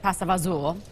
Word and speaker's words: pasta fagioli: It's pasta fagioli, okay. But we also pronounce it pasta fagioli. Sure. You know how words get changed around after the years.